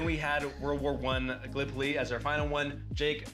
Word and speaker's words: Gallipoli: because being from Iowa, I said Gallipoli, and it is pronounced Gallipoli.